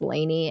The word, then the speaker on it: Lani: And she sees that Jade is live with Santi and her name is spelled Lani, but it's Lainey, and it upsets me. I want to say Lonnie.